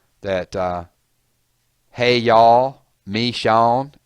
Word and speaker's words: Michonne: Say it like they do in Atlanta, please. I know you guys want it to be politically correct and say Michonne. But if you've ever been to Georgia, you'll know that hey y'all, Michonne, it's two words.